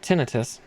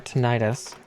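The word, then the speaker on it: tinnitus: my ears ringing but not tinitus or tenius however however we're supposed to say it I sometimes say it like a Britain sometimes say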